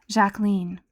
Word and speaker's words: Jacqueline: They even mimicked her for pronouncing her name, Jacqueline. She says it rhymes with queen, Ethel told her sisters-in-law.